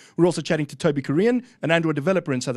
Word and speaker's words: Kurien: And joining us as a guest in the show today is Toby Kurien. Yes. Am I saying it right? Kurien, yes.